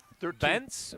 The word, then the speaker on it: Bentz: Bentz, pardon me, I was pronouncing his name Bench earlier. It's Bentz, Prez Bentz, and Harper Hughes back deep.